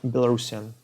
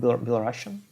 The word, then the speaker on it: Belarusian: Yeah, I mean, some people call it Belarusian, but I think that Belarusian is the correct pronunciation as of now. Because Belarusian is probably from the old name Belarusia, but now it's Belarus, so it's Belarusian, as far as I know.